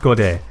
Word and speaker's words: Godde: It's pronounced Godde. Or Godde? So you have to have the upwards inflection.